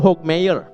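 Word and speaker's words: Hokemeyer: Paul Hcky Mayer gimana dibacanya? Dr. Paul Hawk Mayer.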